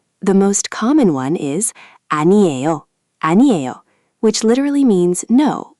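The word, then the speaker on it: 아니요: The most common one is aniyo aniyo, which literally means "no" or "it's nothing." Four syllables.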